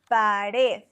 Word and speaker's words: pared: Pared, the stress is on the last syllable, so no accent needed.